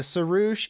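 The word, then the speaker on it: sirrush: one and it's called the sarush and the saroosh is if you look it up and it's spelled s-i-r-r-u-s-h the saroosh has one horn so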